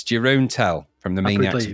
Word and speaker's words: Jeroen: It's Jeroen Tell from the Maniacs of Noise.